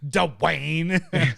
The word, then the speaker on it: Dwyane: one or or Dwyane Wade not Dwyane Wade Dwayne sorry I didn't mean to say it like